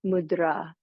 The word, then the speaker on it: mudra: if you interested in the proper pronunciation in Sanskrit it's mudra and Rahul will come